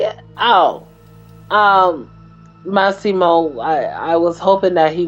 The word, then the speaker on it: Massimo: Massimo, I was hoping that he would get him, but I just hate it when the bad guys get away.